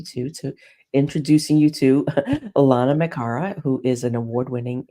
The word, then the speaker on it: Lana: to say my name I say Lana rhymes with Donna I'm going to remember